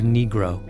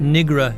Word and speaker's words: negro: Hollowell once paused in the middle of a trial to instruct the court on the correct pronunciation of negro. Not negra, your honor. Negro.